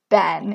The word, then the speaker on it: Ben: First up, I don't like how it pronounces Ben, because it pronounces it like bin. It doesn't pronounce it like bean, and it doesn't pronounce it like Ben. It says bin, and I do not like that.